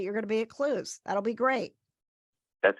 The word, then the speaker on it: Clowes: pronounced Clues.